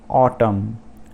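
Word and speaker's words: autumn: फिर देखते हैं साइलेंट एन, इन सभी वर्ड्स में एन साइलेंट है। तो पहला वर्ड है ऑटम, ऑटम एक सीज़न का नाम है जिसको हम पतझड़ सीज़न भी बोल सकते हैं।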